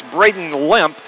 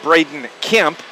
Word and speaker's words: Braden Limp: actually is number 20 it's Braden limp not Braden kimp and I apologize for